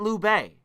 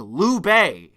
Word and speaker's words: Liu Bei: It wasn't Liu Bei.